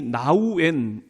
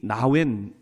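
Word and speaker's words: Nouwen: 책이에요 세계적인 영성 지도자인 발음이 어려워서 같은 미국 사람도 헨리 나우웬 이렇게 발음하기도 하고 어떤 분들은 헨리 나웬 이렇게 발음하기도 하는데 이분이 제가 신학교에 들어갔을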